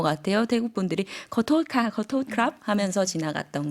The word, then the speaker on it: ขอโทษ: 태국 분들이 거토크랍 하면서 지나갔던 것 많이 들어봤던 것 같은데요. 그러면 한번 인사말 발음 들어보도록 하겠습니다.